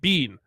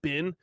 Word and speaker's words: been: B-E-E-N, bean. I pronounce it bean. People are like, excuse me, it's pronounced bin.